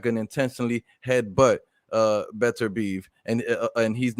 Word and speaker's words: Beterbiev: Yeah, I asked a Russian journalist, and he told me it's actually Beterbiev.